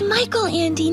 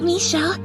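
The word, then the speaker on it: Michael Ende: sound good first off it's Michael Andy not Melle you really haven't read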